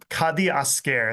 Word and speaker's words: Kadiasker: So I don't know how do you pronounce is this kad kadi aare.